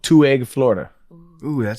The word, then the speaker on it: Two Egg: there's a town called two egg Florida oh that sounds good is it two eggs is it spelled like two eggs two two egg Florida all right t-w-o-e-g-g two egg two egg this